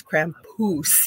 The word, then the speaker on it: Krampus: We think he is over here in North America, but he told me we say it wrong. It's Krampus, he says.